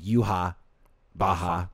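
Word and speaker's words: Yhwach: But, or sorry, his correct pronunciation is Yuha Baha.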